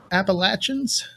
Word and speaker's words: Appalachians: all right everybody ready to uh play your appalachians you know it tim tim i said it